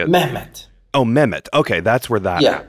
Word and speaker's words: Mehmet: was Istanbul how do you say amendment Oh Mehmet okay that's where that yeah yes that's so